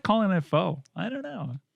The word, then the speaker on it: pho: PHO. Pho. It's Pho. Yeah, it's like you're saying the F word, but you eject on the CK. Pho. Yes. But I like calling it pho.